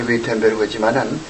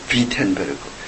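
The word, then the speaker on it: Wittenberg: 우리말은 뭐지 위텐베르그지만은 독일 발음은 비텐베르그. 이 W는 V자점 발음하거든요. 그러니까 우리 영어식으로 하거든 독일식은 비텐베르그. 영어식은 위텐베르그고.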